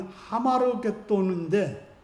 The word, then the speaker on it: 아마겟돈: 그러면 아마겟돈 전쟁이 어떤 전쟁인지 확인할 필요가 있습니다. 여기서 아마겟돈 전쟁은 어떤 물리적인 그런 전쟁이 아닙니다. 아마겟돈의 원어 발음인 하마르겟돈인데 마겟돈의 산이라는 뜻이라고 합니다.